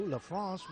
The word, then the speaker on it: LaFrance: Connor LaFrance, she uses the French pronunciation, so we will too. LaFrance with the ball.